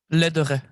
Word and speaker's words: Lederrey: It's really difficult if you're not a French speaker. That's fine. I do. I pronounce it in the kind of American way, so that exactly. That in the United States.